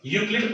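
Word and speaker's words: Euclid: इसमें जो ई है वो साइलेंट है, ठीक है, यूक्लिड पढ़ते हैं इसको, क्या पढ़ेंगे, यूक्लिड डिवीजन लेमा।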